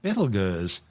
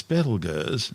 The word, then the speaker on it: Betelgeuse: Currently known as Betelgeuse, and commonly referred to by the public as Betelgeuse, don't say it 3 times, the names are both tortured mispronunciations of the original Arabic name Ibtal Yawza, meaning the hand of the big man being Orion the Hunter.